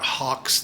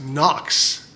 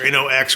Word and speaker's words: HOKC: These are not Hawks knives. These are actually pronounced Knox knives. like N O K X or N O X, however you want to do it.